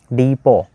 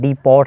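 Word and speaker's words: depot: रहा है, हमदर्द book डीपो। तो ये टी इसका साइलेंट है, डीपॉट नहीं पढ़ेंगे, डीपो, डिपो हम पढ़ते हैं आमतौर पे, डिपो, कॉमा लगाएंगे।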